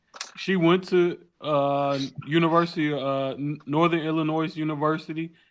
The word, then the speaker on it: Illinois: She went to University Northern Illinois University, and the S is silent.